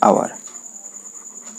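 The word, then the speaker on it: hour: উইল ৰিটাৰ্ণ ইন ডেশ আৱাৰ, ইয়াতে আৱাৰ শব্দৰ আগত কি হ'ব আমাৰ এন আৰ্টিকেল হ'ব। আমি ইতিমধ্যে নিয়মটো পঢ়িছোৱে, যেহেতু ইয়াৰ এইচ যেটো লেটাৰ আছে এটো কি হৈছে সাইলেন্ট হৈ আছে।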